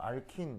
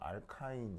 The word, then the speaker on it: 알카인: 일본식으로 읽으면인 이렇게 되거든요 일본식으로 읽으면 그래서 그 뭐냐면 뭐 뭐 예를 들면 뭐 내가 친일파다 그러면 알킨 이렇게 하시면 되고 그다음에 친밀하다 그러면 알카인 이렇게 읽으시면 돼요 그죠 아 그래서 뭐 하여튼 하여튼 발음은 이렇다 그래서 근데 나는 영어식이 좀 익숙하니까 난 알카인 이렇게 할 건데 뭐 하튼 자